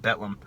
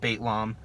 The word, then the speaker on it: Bethlehem: uh formless master and betlam yes i finally know how to pronounce the band betlam not baitlam not bethlehem whoever the [ __